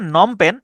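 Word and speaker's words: Phnom Penh: দেখেন বানানটা কিন্তু ইন্টারেস্টিং আছে। উচ্চারণটা হচ্ছে নমপেন। যেটা হচ্ছে কম্বোডিয়ার রাজধানী। কিন্তু বানানরা খেয়াল করেন পি এইচ পি এইচ এন ও এম নম প্যান এইচ নম এবং প্যান উচ্চারণ হচ্ছে এইটুকুর কিন্তু বাড়তি আগে পরে অংশ আছে পিএইচ হচ্ছে একটা অংশ এবং শেষে এইচ হচ্ছে আরেকটা অংশ তাহলে নমপেন এটা হচ্ছে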